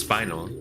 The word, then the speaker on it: spinel: I know that it is pronounced spinal, but I like calling them spinels.